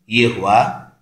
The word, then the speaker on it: Yehowah: Então, para você que está ouvindo o que eu estou dizendo agora, eu estou apresentando Yehoá, o nome do Criador, como sendo pronúncia correta, como sendo som correto, embora se de teus lábios sair Yehoá, eu também vou entender como Yehoá.